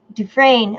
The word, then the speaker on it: Dufresne: Dufresne. Okay, is how it's pronounced French.